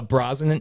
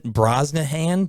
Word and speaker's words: Brosnahan: similar yeah 100 and then Rachel Rachel uh Brosnan Brosnahan Brosnahan the girlfriend the girl from uh the